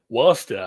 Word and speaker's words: Worcester: Yeah, Worcester. But it Worcester. spelled like Worcester.